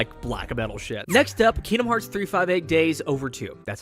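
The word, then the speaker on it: 358/2 Days: metal next up Kingdom Hearts 358 days over two that's how you say it there's technically two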